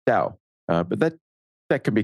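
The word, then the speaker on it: Tao: mean it's Tau Tio the correct pronunciation in Chinese would be Dao but that that can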